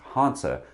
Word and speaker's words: Hanse: Hansa likes to do oh it is Hansa the pronunciation like Porsche Hansa puts the primary